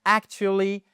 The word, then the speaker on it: actually: Actually, vous voyez ici, vous avez la première syllabe. Vous avez une apostrophe qui nous indique qu'on a un stress ici. Alors, pas besoin, pas d'angoisse hein. Le stress, c'est simplement l'accentuation. OK ? et elle se fait sur cette première syllabe actually qui est différent